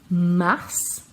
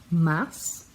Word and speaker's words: mars: Février, mars, e a gente pronuncia o S, mars, avril, com L bem